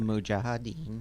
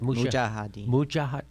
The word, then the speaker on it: Mujahideen: And of the Mujahideen. So there is, yes, there's Ronnie Big Head Reagan meeting with the Mujahideen. And is that how you say it? Mujahideen.